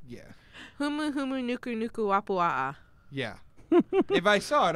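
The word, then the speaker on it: humuhumunukunukuāpuaʻa: I don't know it off the top of my head, but yes, I've pronounced it, and I know it's like huma. You got the first letter right. Yeah. Humu humu nuku nuku wapua'a.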